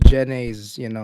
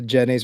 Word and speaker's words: Jenny's: And the way you pronounce it's not Jenny's, it's Jenny. Jenny. As in Yeah. Jenny, babaeng pangalan? Yeah, but it's Jen. like a southern, so you pronounce it as Jenny.